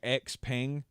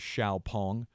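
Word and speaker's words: XPeng: our way because Chinese electric vehicle company uh xiaopong or it looks like x-pang but I looked up the official pronunciation apparently it is xiaopong but uh anyway they this past week unveiled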